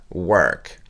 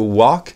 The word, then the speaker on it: work: Prononcez ce O comme un E, to work, work.